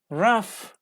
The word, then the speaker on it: rough: not pronouncing the words but sometimes they are pronounced like F yes it is true for example tough rough rough decision tough tasks